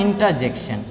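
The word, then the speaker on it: interjection: ये देखिए आर से पहले ई है, आर से पहले क्या है, ई है, मतलब वाउ लेटर है, तो आर को जो है साइलेंट रखेगा। इसको इंटरजेक्शन नहीं पढ़ेंगे, इंटरजेक्शन, इंटरजेक्शन।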